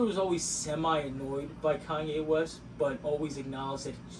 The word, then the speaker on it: Kanye: right to this day she still calls him kane i was literally gonna say king i don't know why she like leaves the y out but i remember her pointing something out about kanye and it's true like